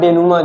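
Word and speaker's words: denouement: में है क्योंकि denimint लिखा जाता है पढ़ा denuma जाता है इसमें टी साइलेंट या ठीक हो साइलेंट कर देते हैं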